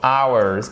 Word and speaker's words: hours: Et non, vous aviez peut-être prononcé le H. Ça s'écrit exactement comme hours, les nôtres, d'accord? So, hours.